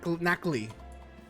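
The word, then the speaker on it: Nacli: Knackly. That's the rock Pokemon. Knackly. N A C L I.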